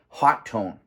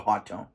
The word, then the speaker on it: Hotone: the uh the the the pronunciation convention these days has been hot tone so I'm going to call it a hot tone it is a hot